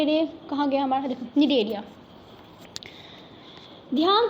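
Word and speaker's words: Cnidaria: मैं लेके आती हूँ, अरे अरे कहाँ गया हमारा, देखो निडेरिया, ध्यान से देखो, NIDARIA निडेरिया, सी साइलेंट है। जैसे कि ऑनेस्ट में एच होता है ना साइलेंट, वैसे यहाँ पे निडेरिया में हमारा सी साइलेंट है।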